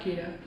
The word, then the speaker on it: KEEDOH: our KEEDOH camp, KEEDOH, it's pronounced just the way it's spelled.